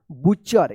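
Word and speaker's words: butcher: सी एच ई आर बुचर यहां पे टी जो है ना साइलेंट रहेगा क्या पढ़ेंगे इसको बुचन तो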